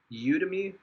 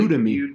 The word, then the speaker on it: Udemy: Udemy, it's like Udemy. How you spell it?